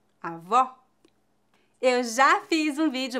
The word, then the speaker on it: avó: que isso quer dizer quando pronunciamos o aberto devemos abrir mais a boca avó bola quando pronunciamos o